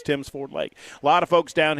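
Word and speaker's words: Tims Ford Lake: Love to see you at Timms Ford Lake. I've learned over the years how to pronounce it. I will never be forgiven for mispronouncing it for the amount of time that I mispronounced. But that's okay. That's all right, too. If you missed that show, it was a good one. I just called it Tim Ford's Lake for about an hour and a half, and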